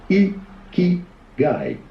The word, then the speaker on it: Ikigai: How do you go about pronouncing it? Ikigai. I was saying that right.